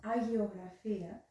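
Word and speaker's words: αγιογραφία: Byzantine iconography, in Greek pronounced agiographia, is the art of picturing holy faces or religious scenes.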